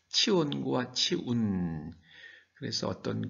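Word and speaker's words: צִיּוֹן: 그러면 이 시온은 히브리식으로 발음하면 치온이 됩니다. 치온과 치운.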